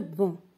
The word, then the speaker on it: banc: Le banc, on n'entend pas la lettre C.